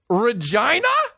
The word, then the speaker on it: Regina: done that what even Regina Saskatchewan is like wow they up with their titles and we rhyme with vagina dude Regina are you kidding me